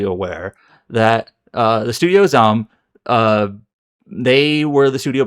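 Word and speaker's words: ZA/UM: Uh, that za slum m is pronounced zum. It's just one like syllable. Zum. It's like zum. It's not zam.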